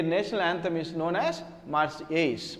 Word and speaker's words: Marseillaise: That is why their national anthem is known as Marseillaise. Marseillaise. L is silent.